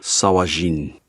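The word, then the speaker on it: sahuagin: men in sahagan so this is a dwarven translation of an elvish word so it is pronounced sawajin we already have that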